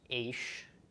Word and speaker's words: aish: So this is pronounced aish. Okay, so ish is man, isha is woman, and aish is fire. Yeah, or AYSH, or however, whatever makes you think of that pronunciation is basically right.